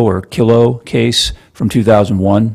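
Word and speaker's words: Kyllo: pronounce it's called the kylo or kilo case from 2001 right uh how do you say that first of all do you know I say kylo okay kylo sounds good to me um uh I could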